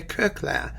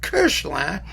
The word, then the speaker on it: Koechlin: kurkler who some of you insist should be pronounced cursed some people say kirschland some people say kirkland there are other people with the same last